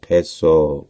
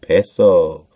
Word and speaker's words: Piso: The New Testament, the Church, and Christianity were all the creation of Calpurnius Piso, pronounced Peso. Peso. Just like the Mexican Peso.